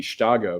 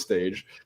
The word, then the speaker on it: Stage: pronounce his name because you would think it would be Chicago but no uh it is staged so I I thought